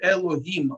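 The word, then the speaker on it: אלהים: Да, в данном случае Элогим читается совершенно спокойно, потому что это не имя Всевышнего, а это название как бы боги-божки.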